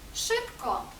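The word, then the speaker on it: szybko: Наприклад, s Z. прочитаємо як ш. Наприклад, у слові шипко, швидко, шибко.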